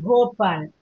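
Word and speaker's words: Bhopal: போபால் அழுத்தி சொல்லணும், போபால்.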